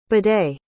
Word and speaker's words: bidet: saying it right like i don't think she's pronouncing it right yeah this is what it's called bidet what i'm dead oh